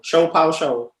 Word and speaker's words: ShoPowSho: i'm saying it right it's show po show show pow show shop show it's the shop show by the